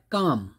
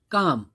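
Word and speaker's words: calm: अब यह है काम, क्या है, काम, इसमें भी एल की साउंड नहीं है, साइलेंट लेटर है एल।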